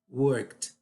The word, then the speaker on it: worked: Worked, worked, tá? Primeiro, eu não pronuncio E, tá? Porque se você pronunciar e você está colocando uma sílaba, a pronúncia está errada.